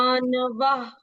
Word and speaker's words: मानवः: मानवा, न का उच्चारण हम पूर्ण करते हैं यहाँ पर।